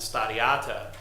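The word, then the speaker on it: stari ata: From my anecdotal perspective, in Slovenian, grandma and grandpa are actually pronounced stada mama and stadiata, and mama and ata literally mean mother and father.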